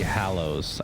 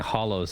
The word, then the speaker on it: Hallows: Deathly Hallows. I think I've been saying Hollows this whole time. I feel like that's a British pronunciation, Hollows. It's spelled differently. I know it's spelled two different words.